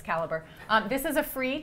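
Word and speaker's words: Calibre: It's spelled the British way, so it looks like it says Calibbre, but it's it's caliber.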